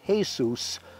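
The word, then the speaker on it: Jesús: door it wasn't Jesus it was Jesus pronounced Jesus a Hispanic worker there to do some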